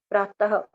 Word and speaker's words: प्रातः: प्रातः ह की साउंड थी ना, तो इसका अर्थ है सुबह, यहाँ पर है का मतलब खत्म हो गया।